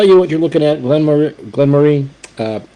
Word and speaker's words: Glenmorangie: Both of them are Glenmore. Glen Moray, Glenmorangie. Okay, it's not Morangie, by the way. Okay, Morangie, just like an orangey.